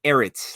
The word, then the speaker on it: Ehret: uh you were close you're erit like Eric the end instead of the yeah